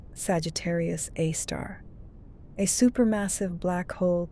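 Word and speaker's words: Sagittarius A*: And at the very heart of the stellar congregation sits Sagittarius A, pronounced Sagittarius A star, a super massive black hole containing about 4 million times the mass of our sun.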